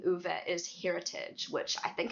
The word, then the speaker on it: Uwe: Like, Uwe. It just Yeah, it sounded just unusual to me. Okay. It kind of sound like an Uber. Like, something like that. The way she pronounces it.